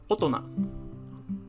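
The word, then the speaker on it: 大人: followed by the character for person would be pronounced as otona and logically enough a big person means adult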